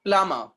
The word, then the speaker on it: plumber: Plumber, plum in the first syllable, MB are coming together, B will be silent.